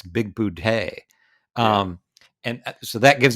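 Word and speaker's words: Bigboote: is spelled b-i-g-b-o-o-t-e and they call him big booty all the time and he keeps correcting him it's big boudie um and so that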